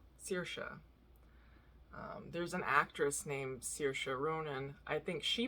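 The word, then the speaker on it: Saoirse: there's an actress named sirsha ronan i think she pronounces it sarsha which is not the actual like pronunciation in um in ireland but um i really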